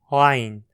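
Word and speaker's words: عين: Para pronunciá-la, posicione a boca como se fosse falar a vogal A, com a mandíbula e a língua bem baixas. Agora, tente empurrar a língua para o fundo da garganta e vibre as cordas vocais.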